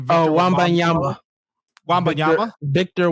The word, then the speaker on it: Wembanyama: I'm sorry, I don't know how to pronounce his last name. Victor Wembanyama. Wembanyama? Victor Wembanyama.